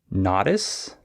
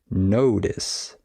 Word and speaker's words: notice: or maybe you say notis uh but the correct pronunciation is notice you just need to change the a to an O notice right uh so